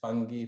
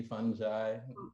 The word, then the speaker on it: fungi: There's so many different ways to say it. Fungi, fungi.